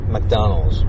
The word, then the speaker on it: McDonald's: it's six syllables but in English it is three M McDonald's and the point here is that most Japanese people are not aware how important it is to read McDonald as mcdonal because nobody told us so